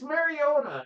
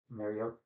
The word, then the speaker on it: Mariota: Lucas Mariota and Oh, I don't just say it right. Mariota. Thank you. Mariota. Not Mariota. He's not a Toyota.